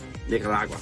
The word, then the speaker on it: Nicaragua: How do you pronounce it? Say it better. Nicaragua.